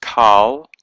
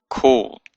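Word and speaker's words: כל: word it means all and it's it's not pronounced call but cool it has a o sound even though it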